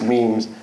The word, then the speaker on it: meme: It's actually really confusing because it's spelled M-E-M-E. And so like older folks are like, you kids with your memes. And it's not memes, it's memes.